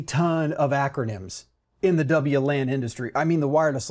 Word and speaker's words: WLAN: people spell it out because local area network has been around as an acronym since the 80s or earlier and we've always called it in LAN I have heard a few people call it long but because of that we often say W LAN or Wireless LAN when we pronounce the acronym WLAN that's fine that's absolutely